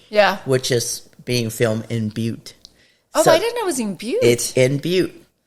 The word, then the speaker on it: Butte: And I still thought it pronounced but.